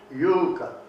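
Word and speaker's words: Juuka: And that accent is always on the first syllable, without exception. So Jukka, Finland, which is in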